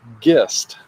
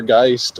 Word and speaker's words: Gist: So the last name is pronounced Gist, not Gist or Geist or Geist or any of that stuff.